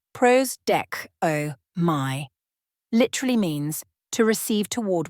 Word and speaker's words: prosdechomai: The Greek word prostcomi pronounced pros deco my literally means to receive toward oneself or to await with expectation.